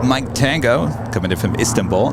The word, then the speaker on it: Istanbul: This is Turkish 8 Mike Tango coming in from Istanbul, 7879 Dreamliner. She also reminded me that it's Istanbul, not Istanbul. Say it again? You accent the second syllable.